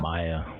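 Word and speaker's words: Maia: Mia. Maya.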